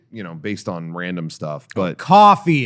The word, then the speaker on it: Ko-fi: on random stuff, but Coffee, it's pronounced coffee. whatever. I thought it was Ko-Fi.